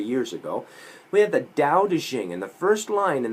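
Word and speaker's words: Daodejing: notice it's spelled t-a-o-t-e-c-h-i-n-g you'll find it more often nowadays as d-a-o-d-e-j-i-n-g because that's the way it sounds i don't know who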